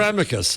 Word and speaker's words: amicus: I think it could be either. Some people seem to say it's the way that I don't pronounce it, and they're just wrong. So I think you can have whatever your own natural accent provides.